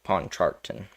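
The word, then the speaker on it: Pontchartrain: but Lake um Pawn um charton I think that's how you say it lake pawn charton and of course we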